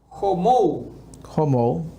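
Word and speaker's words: ὁμοῦ: En griego, su raíz y su pronunciación es homou. Homou.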